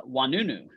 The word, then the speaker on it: Oinounou: today by our first guest uh uh wanunu did I did I did I pronounce it correctly you got it Rakesh yes